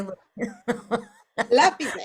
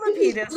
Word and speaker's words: Lapides: I say Lapides. I say Lapides. My family says Lapides.